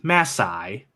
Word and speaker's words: Mae Sai: this cave is yeah the town is named masai masai that's right masai masai okay great excellent